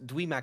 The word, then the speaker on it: Dweomer: Called Dwemer cats. Yes. Not spelled like Dwemer, like the baby-fied dreamer, but DWEOMER Yes.